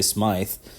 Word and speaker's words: Smyth: Or what about uh the Edmonton Oilers Smythe or Smith? It's spelled with a Y, so I say Smythe.